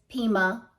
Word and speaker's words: Pima: In this video that's coming up, I had 3 words that were difficult for me to pronounce, so I looked them up. Pima is Pima, and then toward the end of the chapter,